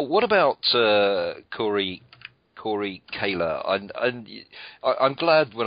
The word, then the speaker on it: Koehler: looked on your website they told me the correct way to pronounce your surname because I'm sure I pronounce it the way that everyone else would do on reading which is ker but anyway it's Corey Kayla and music goat what